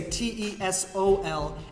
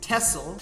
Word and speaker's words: TESOL: word tessel or tesol indeed some people do say t-e-s-o-l as tesla like me but some say tesol as well throughout the world maybe the majority might